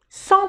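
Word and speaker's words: cent: un facile maintenant sans Sans tout court, il y a pas S, il y a il y a rien. 100. Le T ne se prononce pas sans Maintenant une règle très importante.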